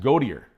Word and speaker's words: Gauthier: He has a name like it's Gauthier. Okay. Right? Yeah. But they pronounce it Gautier.